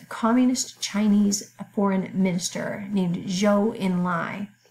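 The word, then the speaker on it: Zhou Enlai: had other ideas Communist Chinese foreign minister named Jo Enlai spelled Z Hou but we pronounce it judge' like kind of a soft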